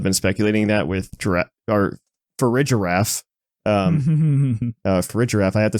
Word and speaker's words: Farigiraf: Farigiraf, I have to say it properly.